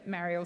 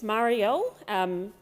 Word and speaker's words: Marielle: Senator Mariel, please continue. I would love to. It's Marielle, Senator Henderson, through the chair, through you, Chair. That's how you say my name.